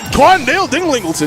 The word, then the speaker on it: Quandale Dinglingleton: Yeah, there's an extra. Dinglingleton. There's syllable there, buddy. Yeah. Oh my I'm God. not saying all that. It's D-Dog. Quandale Dinglingleton.